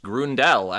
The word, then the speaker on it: Grundel: accurate to the dialect that the name is pronounced Grundel, and it's just wrong that he's been saying it that way his whole life.